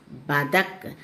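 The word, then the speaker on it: बतख: This one is badak. Ba-da-ka. The last letter is ka. So you should pronounce it as ig.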